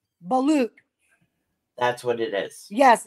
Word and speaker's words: balut: it it's spelled ba a l u t balute that's what it is yes it's called a ballute thank you it's disgusting it's ballute that's the